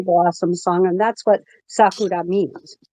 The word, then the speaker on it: Sakura: It is not Sakura. It is Sakura. Okay, oh, Japanese. Sakura. Sakura. Nope, not Kura. No, like that. Roll your R.